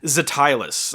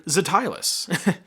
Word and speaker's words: Ztylus: Ztylus, I think, is how you pronounce this company.